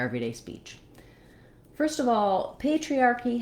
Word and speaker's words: patriarchy: First of all, patriarchy has the stress on the first syllable, and the letter A says the A diphthong.